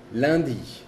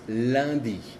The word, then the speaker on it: lundi: La U y la N y la U y la M tienen la misma pronunciación que es un. Por ejemplo, un como un, uno, un. Lundi, que es lunes, lundi, lundi.